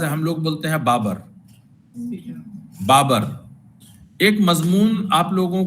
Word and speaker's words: Babur: Uzbekistan میں ازبک لوگ جو ہیں وہ بابر کا پروننسیشن کرتے ہیں بابر، اور وہ بابر لکھتے ہیں، وہ پروناؤنس کرتے ہیں بابر. اس لیے آپ دیکھیں گے کہ انگریزی کے پرانے ٹیکسٹ میں بابر ہر جگہ پہ BABUR لکھا ہوا ہے، چونکہ وہ بابر بولتے تھے اور بابر لکھا.